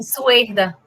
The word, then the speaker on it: Suerda: Suerda, né? Assim que pronuncia? Perfeito. Sim, Suerda. Ah, Suerda. Suerda. É que tá S-U-E-R-D-A, né? Pensei que era Suerda. É S-U-E-R-D-A. Ah, tá. Suerda. Suerda. Tá certo.